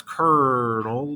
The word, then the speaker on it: colonel: We all speak English and we all read English, and that is an R, and that's colonel, but it's spelled colonel.